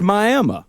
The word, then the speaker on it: Miami: there's a Miami Texas which is spelled Miami but is pronounced my I am oh so it's extra